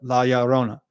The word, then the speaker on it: La Llorona: Not that my pronunciation is great, but La Llorona.